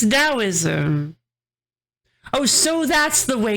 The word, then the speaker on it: Daoism: Hey, are you trying to tell me it's pronounced tauism? It is not tauism. It's daoism. No, it's daoism.